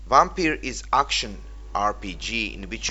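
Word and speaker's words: Vampyr: The name of the game is Vampire, and by the way, this is how it should be pronounced. Vampire is action RPG in which you play as a vampire who is also a doctor.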